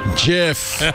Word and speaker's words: GIF: own invention to accept his award it's pronounced jiff yes not gift yes you tell it for